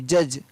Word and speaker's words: judge: BUDGET, बजट, बजट सुनते हैं हमेशा, तो उसकी स्पेलिंग होती है BUDGET, बजट, तो यहाँ पर D है वो साइलेंट। LODG, laws. JUDGE, जज।